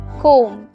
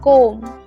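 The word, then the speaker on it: comb: oven নয় oven চিরুনি কোম কোম দেখো বি সাইলেন্ট আছে কোম ওকে চশমা স্পেক্টটাকেলস স্পেক্টটাকেলস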